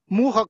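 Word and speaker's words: Mucha: for $12 you can buy Muha cards. It's spelled M-U-C-H-A, M-U-C-H-A cards, Muha tarot cards.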